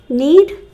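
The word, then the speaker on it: knead: k-n-e-a-d that is when you need the dough need need metal m-e-t-a-l metal gold silver iron metal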